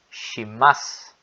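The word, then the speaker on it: します: A mesma ideia acontece com o su. No final aqui, ó, ele não é pronunciado. Shimasu.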